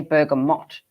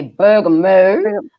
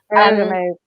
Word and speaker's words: bergamot: You don't say bergamot. You say bergamot. Bergamot.